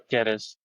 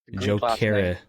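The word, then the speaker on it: Gyökeres: Jokeres. Jokeres. Greek. G is Okay, silent.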